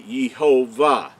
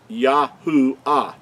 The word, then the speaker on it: Yahuah: So I wanted to show show you that so you make sure that you understand that the creator's name could not be Yhovah. It's Yahoo.